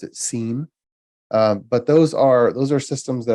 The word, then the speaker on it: SIEM: Abbreviated, you can pronounce it SIEM.